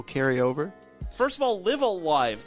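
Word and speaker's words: Live A Live: over first of all live alive that is how you pronounce it right live uh live yes okay and it's it's spelled l-i-v-e space a space l-i-v-e and I'm not gonna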